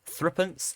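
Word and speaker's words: threepence: the value three pence once again this would have been pronounced three uh here would have been pronounced thrippance by most people at the time according to my grandma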